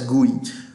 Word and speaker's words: GUI: It is pronounced as GUI.